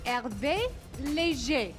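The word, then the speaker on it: Hervé Léger: A bit of a tongue twister, and you need to have a French accent, but the correct way to say it is Herve Leger.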